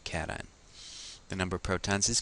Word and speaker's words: cation: call that a cation please don't pronounce it C this is a cation the number of protons